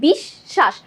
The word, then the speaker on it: বিশ্বাস: আমরা উচ্চারণ করছি কি বিশ্বাস, দুইবার শয়ের উচ্চারণ করছি।